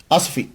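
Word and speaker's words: آسفي: वो का किससे बनाया असफी इसके मुख्तलिफ प्रोनाउंसिएशन है बर्बर की मुख्तलिफ है इंग्लिश वाले मुख्तलिफ बोलते हैं असफी ईजीिएस्ट जो है वो यही है लोकल जुबान में इस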